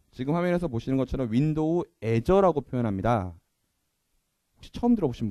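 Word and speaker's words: Azure: 하거나 그러지 않겠습니다 예 애저라고 표현하고 일본 분들은 이거를 아주르라고 읽더라고요 어떤 분들은 아주리라고 있는 분도 계시고요 하여간 여기에 제가 제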